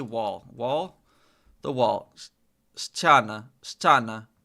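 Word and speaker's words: ściana: Stana. Stana. Stana.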